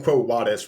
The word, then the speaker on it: Quo Vadis: normal well yeah because in Latin V's are pronounced like W's or they were for most of Roman history they would eventually become V's but yeah but The